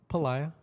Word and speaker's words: Pelayo: I say the the Spanish pronunciation is Pelayo, but I think, you know, I grew up, um, you know, in a lot of Caucasian schools and so a lot of people refer, you know, they would pronounce it Pelayo, which is fine, too.